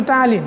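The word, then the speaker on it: ptyalin: টায়ালিন, এটা কিন্তু টায়ালিন, যদিও প্রথমে পি আসছে, উচ্চারণ হবে টায়ালিন।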